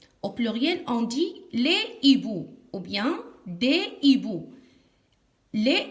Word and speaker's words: hibou: On ne fait pas la liaison. On dit un hibou, des hiboux.